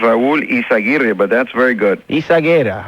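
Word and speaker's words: Yzaguirre: Curtis, it's pronounced Raul Izaguirre, but that's very good.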